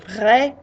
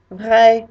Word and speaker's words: vrai: And lastly, if I might say that someone is real, so vrai, vrai, they sound the same, but they both mean real, masculine and feminine.